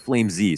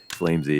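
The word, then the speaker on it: flameZ: lurks flames lurks out actually it's pronounced flame z sorry he wants it to be flame z flamesy yeah so okay there's uh it's not like flamey it's not like playing flame z but he he uh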